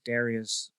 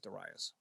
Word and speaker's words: Darius: I'm an American, so I pronounce it Darius. My friends in England pronounce it Darius.